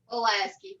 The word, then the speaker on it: Pulaski: Isn't it pronounced Pulaski County? Pulaski, like you're pulling something, Pulaski.